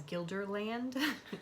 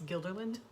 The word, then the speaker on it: Guilderland: funny cuz you pretty you keep pronouncing it as Guilderland it's Guilderland and we're like okay however